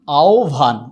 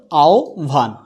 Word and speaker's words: আহ্বান: বা সরাসরি অকার থাকে তখন হ এর উচ্চারণ কি হয়ে যাবে ওকার হয়ে যাবে যেমন আওয়ান এর জায়গায় কি হবে যে আ ও এই অল্পপ্রাণ ভয়ে যাবে কি মহাপ্রাণ তাইলে হয়ে যাচ্ছে কি আওভান উচ্চারণটা হয়ে যাচ্ছে আওভান